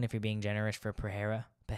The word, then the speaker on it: Pereira: Izzy was winning 4-0, maybe 3-1 if you're being generous for Pereira. I think it's pronounced Pereira, but I'm going to say Pereira because I'm an American and I'm ignorant.